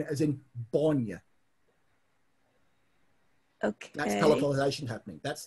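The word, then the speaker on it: Báine: Everybody calls me Bane, but it's spelled B, accented A, I, N, E. Bonya.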